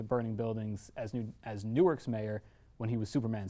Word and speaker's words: Newark: of running into burning buildings as new as Newark's mayor when he was Superman Sinbad Pete also